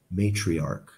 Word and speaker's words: matriarch: it's pretty obvious please notice that the CH sounds like a k in this word matriarch not matriarch matriarch the face of one